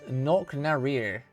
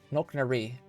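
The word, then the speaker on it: Knocknarea: Coco said how to pronounce that earlier. How did he say? Where is it? It's Knocknaree. Knocknaree. Knocknaree.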